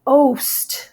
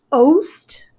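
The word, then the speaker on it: ow'st: If he needs to throw out a syllable because he has too many, he would say oast. So he took out the E there, a vowel.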